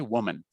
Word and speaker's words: woman: Now, the singular of this is pronounced with an O. Okay. Woman.